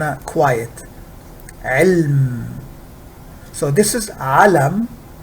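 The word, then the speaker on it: عَلَم: quiet so this is alam there is fatha over the lamb this is elm there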